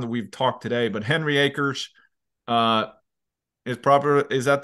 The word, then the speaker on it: Henry Acres: day first time that we've talked today but Henry Acres uh is proper is that the right pronunciation yes I didn't know if it was the Henri Acres or something in in Swedish and I'll tell